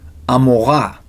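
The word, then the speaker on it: עמורה: with Bill Shah another name melach king of Amora in English we say Gamora how did Ein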